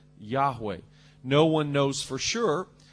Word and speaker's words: Yahweh: Jehovah and probably uh the Hebrew pronunciation is something like Yahweh no one knows for